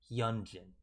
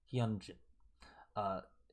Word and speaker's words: Hyunjin: People were telling me to pronounce it like Ariana Grande's yeah. Like the yeah ad-lib she'd be doing if you guys ever listen to her. She uses it all the time.